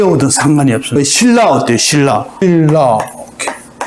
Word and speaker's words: 신라: 신라. 오케이. 발음 어떻게 해요? 니은하고 리을이 만났잖아요. 꽝. 니은하고 리을이 꽝 부딪혔어요. 유음하고 비음이 부딪혔어요. 그럼 어떻게 돼요? 다 유음으로 바뀌어요. 리을로. 그래서 신라 발음이 어려워요.